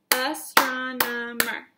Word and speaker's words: astronomer: clap that word ready astronomer count it astronomer astronomer has four syllables an astronomer is a